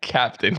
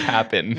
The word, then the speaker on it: Cap'n Crunch: Cap'n Crunch is the official. I just realized it's not Captain. It's not Captain Crunch. It's Cap'n.